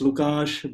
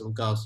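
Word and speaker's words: Łukasz: It's Lukash, but I pronounce it as Lucas. It's more friendly for foreigners. Yeah, but Lukash is not difficult, so I'll go with how it's actually pronounced.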